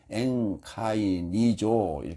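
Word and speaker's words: ἐγκαινίζω: 근데 앞에 에가 붙었어요. 발음상 앵카이 앵카이니조 되는데 에크가 붙었어요.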